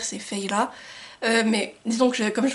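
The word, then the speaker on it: Feyre: Alors je sais qu'on dit pas Fer, c'est Feyla, mais disons que comme je vous l'ai déjà dit, je prononce à la française.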